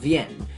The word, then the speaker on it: Wien: actually spoken in German which means that it's pronounced VN which is close enough to be English Vienna